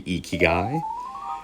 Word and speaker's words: Ikigai: new course, which I looked up how to pronounce it correctly, Ikigai.